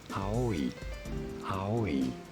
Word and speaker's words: Aoi: word meaning green blue how do you say it in japanese it is pronounced as aoi thank you that was